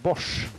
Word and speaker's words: Bosch: We pronounce it Bosch. We pronounce it Bosch.